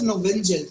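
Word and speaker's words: Knoevenagel: it is called as novengel k is silent okay now in this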